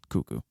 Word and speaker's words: Cucco: How do you say it? Cuckoo. Cuckoo? It's cuckoo. Cuckoo Companion?